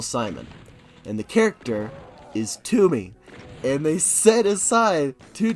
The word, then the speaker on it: Toomey: And the character is Toomey. And they set aside to Toomey, Tomb rhymes with doom.